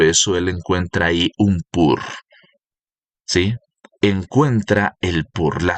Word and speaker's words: Pur: La palabra pur, que quiero repetirle una vez más, la traduce aún la Reina Valera de la misma forma, como se escribe p U pur, que significa suerte, que significa purim también.